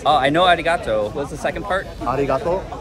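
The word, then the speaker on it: arigatō: in Japan to be polite Japanese all about pronunciation going to be coming from the chest you ready okay arato oh I know Arigato what the second part Arigato Arigato gas gas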